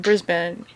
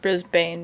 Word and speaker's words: Brisbane: think they were saying brisbane at the time or in the podcast so that's how they were pronouncing it it's not brisbane because that's a very american way to pronounce it okay i'm not gonna